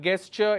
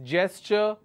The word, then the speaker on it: gesture: coup isolation quarantine gesture it's not get sure its gesture against abbreviation annihilation alright